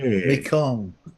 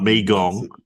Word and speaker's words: Mekong: Mekong. Not Megong.